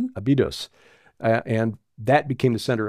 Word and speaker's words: Abydos: It spread from there in the Nile Delta to the south to Abydos, or actually it's the syllables on the second, there's Abydos, Abydos, and that became the center of his cult.